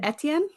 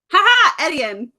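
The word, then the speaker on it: Étienne: ne how the hell in my head I pronounced it etan etan that's better than how I was pronouncing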